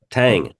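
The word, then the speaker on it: tem: okay so next time I see a word spelled t eem I'm not going to all of a sudden go t no but rather Tam Tang or Tang I see a word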